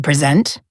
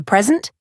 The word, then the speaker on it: present: To be present is an adjective, therefore the stress is on the first part. To present is a verb, therefore the stress is on the second part. And a present is a noun, so